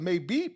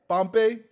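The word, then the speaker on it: Mbappé: I don't know how to say his last name completely, but Maybe or Mbappe. Mbappe. Oh, the M is silent.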